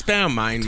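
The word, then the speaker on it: Balmain: B you know the the clothing label B it's Bal man mate you're from b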